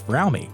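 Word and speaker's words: Fromme: member red AKA Lynette squeaky fry which incidentally it really is pronounced fry not from the two founded the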